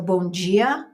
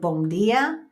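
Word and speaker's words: bom dia: is much different and they put a j sound on the D's so bonjia instead of bondia things like that and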